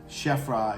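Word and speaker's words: Khafre: pharaoh, which is Shefra, pronounced many different ways. Shefra is how I learned it was pronounced.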